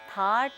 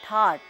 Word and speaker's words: थाट: जन्म हुआ है और थाट को हम अक्सर थाट या ठाट या इंग्लिश में टी एच ए टी ठाट इस तरीके से हम इसको इसका उच्चारण करते हैं तो ठाट या थाट एक ही चीज है कहीं-कहीं पर मेल